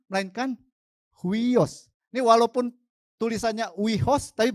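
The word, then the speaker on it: υἱός: Ini walaupun tulisannya huios, tapi bacanya huios.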